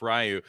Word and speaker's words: Ryu: Like you would roll your R and just say the YU.